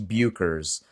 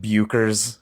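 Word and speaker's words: Bueckers: I like to say Paige Bukers because I like to be wrong. Anybody else hear Paige Bucher come out of people's mouths sometimes? It's like, I don't think that you pronounce the U, man.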